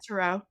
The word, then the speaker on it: Turo: Turo.